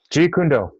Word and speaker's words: Jeet Kune Do: Yes, please correct my pronunciation. And Jeet Kune Do? No. Jeet Kune Do.